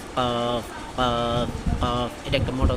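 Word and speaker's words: ق: ওকে, তারপরে হচ্ছে কফ, জিহ্বার গোড়া তার বরাবর উপরে তালুর সঙ্গে লাগাইয়া কফ কফ কফ কফ।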